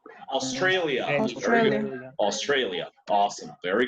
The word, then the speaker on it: Australia: La parte de alia se pronuncia alia. Pero ¿cómo diremos Australia? Australia. Australia.